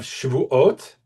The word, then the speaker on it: Shavuot: So we have Shavuot is oaths, and Shavuot means weeks. And here the emphasis is the same. The emphasis is on the end of the final syllable, ot. Shavuot and Shavuot. The difference is the first syllable is an ah, and it completely changes the meaning.